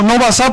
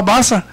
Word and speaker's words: Baasa: No Baasa, porque no tiene el acento en dónde. En la última A, se llamaba Baasa.